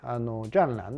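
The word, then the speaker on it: 战狼: いてね、ジャンランって読むんですけ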